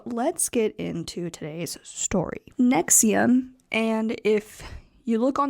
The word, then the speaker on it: NXIVM: as such so let's get into today's story Nexium and if you look on the screen or if you look it up it is not spelled the way that you think it is nxi VM pronounced as Nexium was created in 1998 by Keith reri and